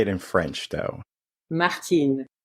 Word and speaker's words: Martine: So Martine, did I say it right? You did. It's actually Excellent. but you got it right. Like, how would you say it in French, though? Martine. Martine.